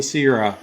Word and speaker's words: Sierra: Pronounced Sierra. Not Sierras, not the Sierras, no S at the end, no multiples needed.